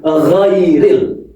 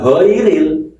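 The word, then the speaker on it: غير: Ghu ghairil bukan giril ya. Kalau giril nanti salah lagi.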